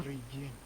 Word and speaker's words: Добрый день: It is Dobry. Dobry. You have the E sound at the end.